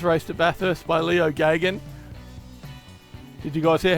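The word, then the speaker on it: Geoghegan: Leo Gagan raced a Valiant Charger like this, but it was the E38.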